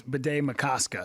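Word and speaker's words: Bde Maka Ska: I used to say Bidet Makaska. Is it Bidet Makaska or Makaska or what is it? You're close. I believe it's Bidet Makaska. So it is the Makaska. ka is the hard syllable.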